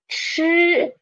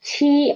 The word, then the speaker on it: 吃: Next one is 吃. 吃. 吃, it means eat. Eat. The initial is 吃, and the final is 一, and put them together is 吃, 吃, not 七, okay? It's 吃, 吃.